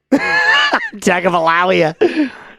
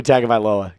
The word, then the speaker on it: Tagovailoa: I said this name wrong. Oh, God. All right, take two. Tagovailoa. I've said Tua. All right. Let's do it. Tua Tagovailoa.